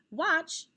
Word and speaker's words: watch: the two dots tch it's a short o sound so it's tch trigraph we cross out that t because you don't hear it you just hear the ch okay and let's take